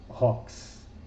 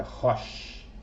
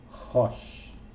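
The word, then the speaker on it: ראש: Nunca pronuncie como Rox, porque o som aqui é de X, né? Para simbolizar o Shin. Então é Rosh, né? Rosh.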